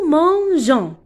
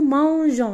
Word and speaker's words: mangeons: mon gant nous mangons donc pour avoir le sang jus on ajoute e et voilà maintenant on dit nous mangeons nous mangeons n'oubliez pas le E